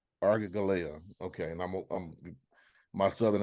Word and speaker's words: Aragalaya: that because I probably will massacre how it's pronounced and ask for some help, Kanya. I try to Aragalaya. What should she say? Aragalaya. Say it again, please. Aragalaya. Aragalaya.